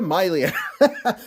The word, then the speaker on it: Mylea: Not your Mylea, Mylea. Not your Leah, Mylea. By the way, it is pronounced Mylea, just so you know.